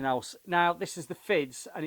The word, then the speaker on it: Fiddes: this is the fids I think you can pronounce it fids it's fi ddees and it's fids now I spoke to